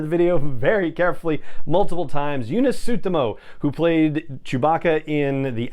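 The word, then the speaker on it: Joonas Suotamo: the renegade rescue and last but not least eunice tsutomo yes that's how you pronounce it i listened to the video very carefully multiple times yuna suttomo who played chewbacca in the action scenes of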